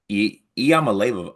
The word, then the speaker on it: Iamaleava: And let me I found the pronunciations Iamaleava. Iamaleava.